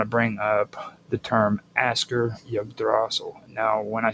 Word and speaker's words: Askr: and I want to bring up the term Asker Yggdrasil. Now, when I say Asker, it's spelled ASKR and then Yggdrasil.